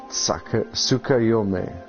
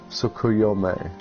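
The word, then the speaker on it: Tsukuyomi: The T is not silent, it's still pronounced, it's just a part of the S. Tsukayome. Tsukayome.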